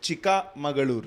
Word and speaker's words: Chikmagalur: And Chikmagalur, it's actually pronounced Chikamagalur. Chikmagalur, yeah.